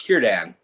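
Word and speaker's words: Círdan: there's a there's a name c-i-r-d-a-n and it's pronounced kiran and um one of the podcasters after being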